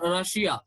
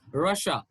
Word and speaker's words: Russia: couple of these sounds russia it's not russia it's russia asia mission vision sure